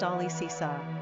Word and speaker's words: Alicia: Owing to some of its popularity in America, Alicia, pronounced Alicisa, is also the Spanish-speaking equivalent to the name Alice.